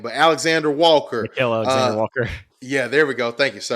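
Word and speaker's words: Nickeil Alexander-Walker: Nickeil Alexander Walker.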